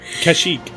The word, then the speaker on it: Kashyyyk: I'm not even trying to pronounce that. Kashyyyk.